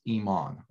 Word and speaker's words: Iman: of all my name is not i man or not i am a man or it's iman okay so that's one thing that usually people come and just kind of don't know how to pronounce or i mean like i'm a man but it but my name is iman okay and uh i'm